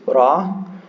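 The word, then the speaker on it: راء: similar though yeah okay this one is RA it's just like an r in a probably more like in Spanish it's kind of like a rolled R yeah and this one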